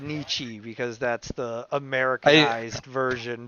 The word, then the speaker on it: Nietzsche: i know i was just saying it's not niche it's nietzsche but yeah it's never i i never hear